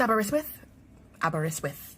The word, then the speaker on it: Aberystwyth: Look, it's Welsh, and I don't even know where to begin with the pronunciation. Aberystwyth University? It's Aberystwyth University.